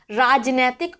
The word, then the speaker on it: राजनीतिक: का प्रयोग करते हैं, लेकिन ध्यान रखना है राजनैतिक नहीं होता है बल्कि राजनीतिक होता है।